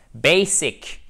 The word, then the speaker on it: basic: Mais il faut prononcer toutes les syllabes d'ailleurs et bien les détacher. C'est très important de ne pas laisser tomber une partie du mot parce que vous avez l'accent tonique qui arrive. Surtout pas. Basic, on entend le hic tout de même à la fin.